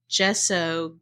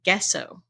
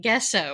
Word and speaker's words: gesso: pronounce anything and so I was calling gesso gesso oh yep and I taught a whole class at creating keep University calling it guesso oh no did anyone